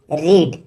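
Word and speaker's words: read: first form होती है रीड इसकी सेकंड फॉर्म होती है रेड स्पेलिंग सेम है लेकिन आपको प्रोनंसिएशन रेड का करना है इसकी थर्ड फॉर्म होती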